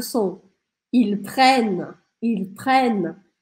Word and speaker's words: prennent: Como a gente tem dois N's no meio da palavra, o som anterior a esses dois N's fica mais aberto. Por isso eu não falo prene, prene. Eu falo prene, sorrindo. Prene, prene. E também, quando a gente tem verbos, eu não vou pronunciar o ENT no final. Por isso eu interrompo o som na letra N.